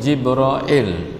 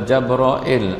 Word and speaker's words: Jibril: Jibril jabril Jaber oil ya namun boleh baca belakang Hai yang disampaikan oleh jibroil atau Jaber oil atau jamril atau Jibril Alaihis Salam kepada nabi